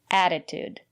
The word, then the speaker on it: attitude: here's another word attitude the first letter T is pronounced as a fast D because the syllable after the letter T is not stressed add it add attitude and the second letter T is pronounced as T attitude it's important to have